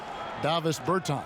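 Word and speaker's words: Dāvis Bertāns: Davis Bertans.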